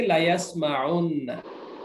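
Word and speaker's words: لَيَسْمَعُنَّ: কি তখন তারা হবে এখানে মূলত ওয়াও ছিল ওয়াওটা উচ্চারণে আর আসবে না লায়াস মাউন্না হবে না লায়াস মাউন্না ওয়াওটা বিলুপ্ত করে দেওয়া হবে এখন হবে কি লায়াস মাউন্না অর্থ হবে তারা অবশ্যই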